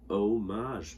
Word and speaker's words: homage: So that's an H, even though it's silent. Homage. Some people say it differently, but the H is silent. It's homage, not homage.